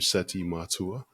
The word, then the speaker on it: Seti Matua: will be helpful to your audience the pronounce pronunciation of my name seti matua um you did it perfectly and you always